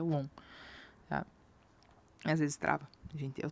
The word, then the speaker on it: won: A gente pronuncia won.